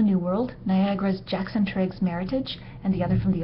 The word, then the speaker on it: Meritage: And yes, it is pronounced Meritage, not the more sophisticated but completely wrong version Meritage.